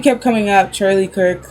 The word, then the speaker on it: Charlie Kirk: One I think was Charlie Clerk. Kirk. Charlie Kirk. I said his name wrong. I don't know what I said, but I know it was wrong.